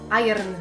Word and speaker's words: Iron: Słyszałam" "To jedno słowo powiedziałaś źle" Dla tych nie poinformowanych, to się powinno czytać mniej więcej "Ajern" Pytam Jak wymawiasz "Disney"